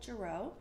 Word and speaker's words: Girot: Jarreau French so the T is silent and not always long